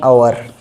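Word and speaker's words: hour: हावर बोलते हैं कई बच्चे, आवर बोल सकते हो, एक्चुअल प्रोनाउंसिएशन क्या है, 1 आवर, ठीक है।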